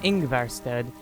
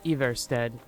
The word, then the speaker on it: Ivarstead: I think I was pronouncing it Ingvarstead, but it's Ivarstead.